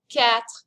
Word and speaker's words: quatre: This word has a lot of letters in it, but it really ends up sounding like the word cat. Quatre. Quatre.